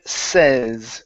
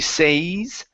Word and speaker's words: says: All right, let's go to the word says. Give me a short e sound. So, instead of she says, it's she e says she says she says.